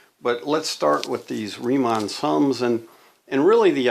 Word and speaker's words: Riemann: to talk about riemann so it's riemann you you it's a german name so you pronounce the second uh vowel there uh riemann sums okay